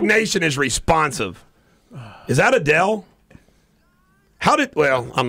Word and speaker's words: Adele: Now, how do you pronounce her name? Because she won some awards. Adele.